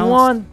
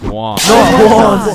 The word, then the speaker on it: Juan: That's just how it's pronounced. Jan, is there Jan in the room? It's Juan.